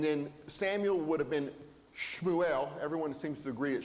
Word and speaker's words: Shmuel: Um, and then Samuel would have been Shmuel. Everyone seems to agree that Shmuel was the correct pronunciation of that, but that's another name that's entered into English as Samuel.